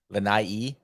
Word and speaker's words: Lanai: trip over to Lanai Lanai I believe is the proper pronunciation was and this is